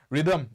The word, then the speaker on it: rhythm: এনেকৈ লিখা যায় আৰু rhythm কবলে হলে এটা h এটা সাইলেন্ট এটা থাকে মাজত সো এটো লিখিব লাগিব সো